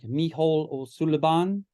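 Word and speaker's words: Mícheál Ó Súilleabháin: Music and Dance, and that's pronounced something like Micheál O'Sullivan, and his wife is the director now.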